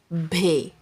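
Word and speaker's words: بھ: Heavy sound of B is bhay. B-H-A-Y. Bhay. And Urdu. One and two. Bhay. The simple B sound is pronounced soft and quick, but the sound bhay is pronounced with extra air.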